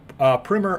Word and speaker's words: primer: It's going to be the definitive primer of Whatnot. A little inside information, it is actually pronounced primer, not primer, although most people do pronounce it incorrectly.